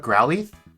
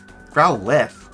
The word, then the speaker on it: Growlithe: Growlithe. But it's got an E.